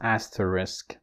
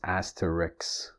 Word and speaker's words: asterisk: is the word asterisk of course you can carefully pronounce it as asterisk but you would often hear it as Asterix so and the sounds cut and sir have switched places and okay it's interesting